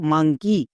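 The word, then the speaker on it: monkey: হবে হস্ বা হস্বীকার যেমন দেখো মাঙ্কি এখানে শব্দের একদম শেষে ই ওয়াই আছে তাহলে ই ওয়াই এর জন্য হস্ বা হস্বীকার সাউন্ড করে দেবো বোঝা গেল চলো এবার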